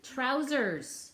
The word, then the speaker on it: trousers: Trousers. 2 syllables. And this vowel pattern right here, ow, wow, wow, wow, bicky, ow, wee, wow, wow, wow. Yeah, it's a fun sound that we find in lots of words.